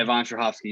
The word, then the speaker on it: Yvonne Strahovski: Simmons, Betty Gilpin, Yvonne Strahovski. Is that how you say it? Yeah, Yvonne Strahovski.